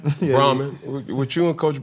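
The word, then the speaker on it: Brauman: But with you and Coach Braun, I'm pronouncing his name right. Brahman. Yeah, Brahman.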